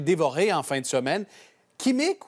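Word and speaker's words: Qimmik: en fin de semaine kimic ou on le prononce rimic RIC ouais en fait c'est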